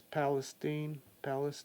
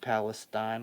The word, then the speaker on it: Palestine: That's Palestine, Ohio. I know I pronounced it Palestine when I heard it, and that's the incorrect pronunciation. It's Palestine. Well, I mean, I think that's kind of how Westerners say it, isn't it?